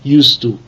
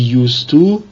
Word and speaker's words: used to: In B, be used to is followed by the ing form of a verb, a gerund. Note, in both used to, habitual past, and be used to, the D is not pronounced.